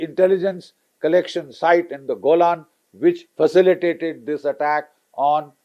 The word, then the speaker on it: Golan: Israel and the CIA in the Golan Heights or the Jolan Heights as the Iraqis pronounce it these were the three